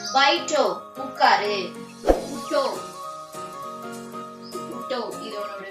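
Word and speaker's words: उठो: ആ ഓ ആവോ വാ ജാവോ പോ ബൈറ്റോ ഉക്കാര് உட்டோ உட்டோ இத உன்னோட உச்சரிப்பு உட்டோ அதாவது எழுந்துருன்னு அர்த்தம் உட்டோ இப்ப இதுல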